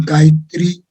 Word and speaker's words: Gayatri: Then the formulation Gayatri is a composition of 3 syllables, Ga, Ya, Tri, and as such, this fold leads to TC value 3.